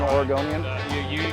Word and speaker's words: Oregonian: Is that what you're called, an Oregonian? You got it, the correct pronunciation even.